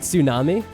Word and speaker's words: tsunami: hang out there like tsunami well it's pronounced like that then it does sound like Tsukasa because the the T is silent in tsunami let's meet the diners